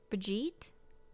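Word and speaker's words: Brigid: Irish saint oh okay it's pronounced with a long e oh they're telling me how to do it bajeet similar to the English word breed Bridget read Bridge it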